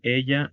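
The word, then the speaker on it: elle: El femenino es el. En francés, la doble L se pronuncia como la L en español. Y en este caso la última E es muda.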